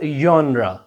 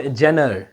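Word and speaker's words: genre: This is called यन्रा। This is नॉट जेनर। इसको भी गलत प्रोनाउंस करते हैं लोग।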